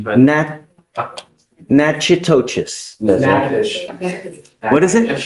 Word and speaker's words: Natchitoches: I butchered the pronunciation, but Natchitoches. Yes, What is it? Natchitoches.